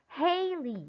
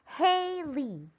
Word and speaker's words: Haley: we pronounce this name hayley very good hey lee notice that though syllable hail is pronounced louder and longer than lee haley hayley okay amazing